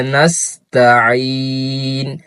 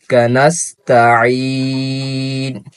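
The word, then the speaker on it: نستعين: ইয়া ইয়াকা নাবুদু ইয়াকা নাস্তাাইন নাস্তাাইন ইয়াকা নাস্তাাইন তিন আলিফ টান তিন আলিফ পর্যন্ত আমাদের টান দিতে হবে এহ দিনাস সিরাতাল ইহদিনাস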